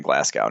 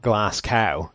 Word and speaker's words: Glasgow: that's cuz it's wrong the man's name is not glass cow it's glasgo that's what the city it's named after is pronounced that's how it's pronounced I don't know how